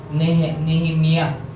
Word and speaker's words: Nehemiah: The name is pronounced Nehemiah.